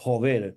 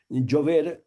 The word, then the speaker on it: Jover: Però és que també el cognom Jover, ja dic, pronunciat en castellà Jover, però que naturalment és un cognom valencià, un cognom català, Jover, Jover és un home de la gleva obligat a la prestació de jove.